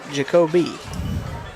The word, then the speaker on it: Jacoby: You got to pronounce the E. Jacoby. Warwick brings them back to the line.